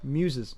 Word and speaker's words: Muses: Is it mooses or musses? What is it? Rhymes with fuses. Muses. Oh, 10 muses?